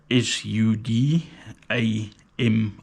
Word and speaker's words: Sudami: the sudam XR Cas length drummer so uh it's spelled s u d a m i sudam so it's a local South African